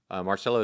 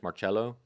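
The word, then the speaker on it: Marcello: pronounced the name Marcelo the traditional correct quote unquote correct pronunciation is marchello so just to be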